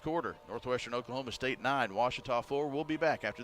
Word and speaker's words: Ouachita: university back in texas everybody pronounces it wichita but really it's ouachita washington washington how would you pronounce it it's washita baptist university get it right it's watertall people it's watch it all wash it 9-4 453